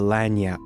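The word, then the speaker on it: Lagniappe: you can catch its name, which is the Lanyap. Trust me, that's how you pronounce it.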